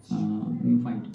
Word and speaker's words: neophyte: Those spellings are different. It is not N-E-O F-I-G-S-T. N-E-O neophyte. P-H-Y-T-E. But the pronunciation is same.